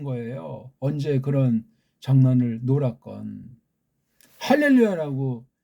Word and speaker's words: 할렐루야: 할렐루야라고 읽어야 맞습니다. 구약에 할렐루야라고 이렇게 소리가 나기 때문에 그렇습니다.